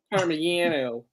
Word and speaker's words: Parmigiano: Parmigiano. Yes. You pronounce the G's like Y's out Yeah.